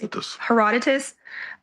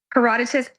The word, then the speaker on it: Herodotus: The Greek traveler Herodotus reports in Babylon, every woman must Heroditus. I did a you know who. Herodotus.